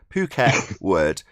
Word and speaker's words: Phuket Word: Phuket Word.